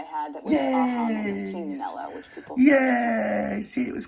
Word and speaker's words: Tignanello: Pronounced Tignanello here in the Tignanello.